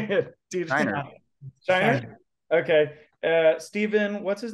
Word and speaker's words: Scheinert: Scheinert.